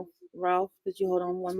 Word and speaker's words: Ralph: Ralph R.